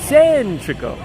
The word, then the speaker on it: Centrico: got it s tro emphasize the first syllable centrico centrico centrico is that